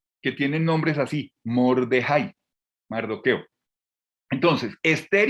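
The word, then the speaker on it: מרדכי: que son esther y mordejái que es el nombre como lo pronuncian los hebreos a mardoqueo mordejái ese nombre mordejái suena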